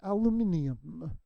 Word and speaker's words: aluminium: for 71 years and I finally learned that the correct way to say it is aluminium so gemini or Gemini